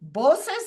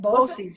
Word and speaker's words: BOCES: She is a district superintendent now of Questar 3 Bosses. Is that how you say it? BOCES, yes.